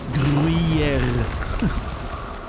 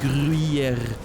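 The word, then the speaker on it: Gruyère: It's that weird R that I always mention when we're talking about, like, the pronunciation of words. The R, you know, which is not really a R, but a Gruyere. If I'm exaggerating, Gruyere. It's almost like a R, you know, at the back of the which is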